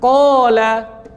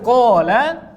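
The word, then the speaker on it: قال: Alif kalau datang sebelumnya huruf tebal, alifnya tebal. Qala, tola. Bedakan qala dengan jaa misalnya.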